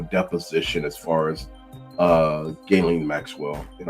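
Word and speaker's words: Ghislaine: as far as uh Gaelen Maxwell and I guess her name is Gaelen the correct pronunciation but anyway and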